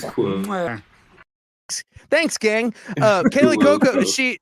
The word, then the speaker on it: Cuoco: to say her name, Cuoco or just Coco, like I'm drinking hot cocoa. Is that her? Coco? It is Quo.